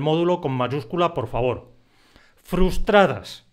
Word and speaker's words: frustradas: Frustradas. Esa palabra es difícil de pronunciar. Ten cuidado con la disimilación.